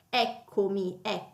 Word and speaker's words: eccomi: Eccomi, quindi l'accento poi cade sulla e, ok?